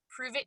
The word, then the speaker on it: Pruvit: So it's spelled Pruvit, Prove It TV.